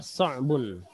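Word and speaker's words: صعب: Sa'bun. Sa'bun, susah. Sa'bun ya, susah, sulit ya. Dari cara mengucapkan pun sulit ya, sa'bun ya. Ada huruf so sama ain.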